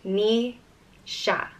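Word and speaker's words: Naoise: which means warrior and is pronounced me sha Nisha and an old Irish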